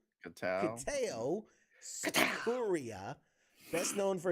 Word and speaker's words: Kitao: So this story says Kiatu Sakura. No, that's not how you pronounce that. Kitao? Evan? Like way off. Sorry, James. Sorry, I don't know why I pronounced that so weird. No, it's Kitao.